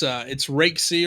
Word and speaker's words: Raiksey: Is that how you pronounce it, Raiksey? Yeah, it's Raiksey, or you can just call me, man.